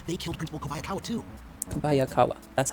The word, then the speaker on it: Kobayakawa: Kobayakawa.